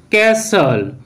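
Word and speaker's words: castle: Rule one, কোনো ওয়ার্ডের মধ্যে অথবা শেষে এস টি এল ই একসাথে থাকলে তখন কিন্তু ওই টি লেটারটির উচ্চারণ সাইলেন্ট হবে। যেমন অ্যাপসল অ্যাপসল, ক্যাসল ক্যাসল, হুইসল হুইসল, বাসল বাসল, হাসলার হাসলার, রেসলার রেসলার ইত্যাদি।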